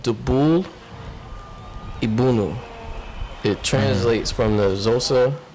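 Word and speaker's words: Dubul' iBhunu: So he was saying that they are openly pushing for genocide of white people, because the song is basically it's called Dubul Ibunu.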